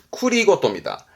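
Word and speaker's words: 繰り言: 요 쿠리카에스 하고 또 봐두셔야 할 게 쿠리고토입니다.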